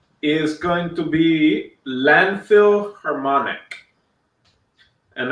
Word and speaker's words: Harmonic: Harmonic or harmonics? Harmonic. Oh, just harmonic. So I messed up. Landfill Harmonic without the S. Just forget that there's an S. The S doesn't exist. The S is silent.